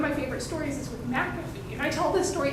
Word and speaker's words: McAfee: and he goes no globally they think it's a cafe and we need to tell them it's mcafee and the minute they have bothered to learn